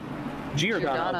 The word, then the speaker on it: Giordano: Giordano, okay. Yeah, like the pizza place.